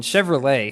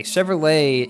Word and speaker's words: Chevrolet: the time like in Chevrolet Chevrolet is a French name even though it's an American company that's why the T at the end is silent so I figured it